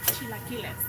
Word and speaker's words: chilaquiles: How do you pronounce it? Chilaquiles. Chila, Chilaquiles.